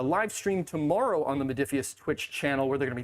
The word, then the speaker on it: Modiphius: Modiphius. That's how you pronounce it.